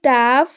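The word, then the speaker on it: tough: For example টাফ, ইনাফ অ্যান্ড মাইটি। তো প্রথমে দুটি শব্দে GH যেহেতু শেষে রয়েছে, তাই জন্য GH এর উচ্চারণ ফ এর মতো হয়েছে, কিন্তু মাইটি শব্দটিতে GH মাঝখানে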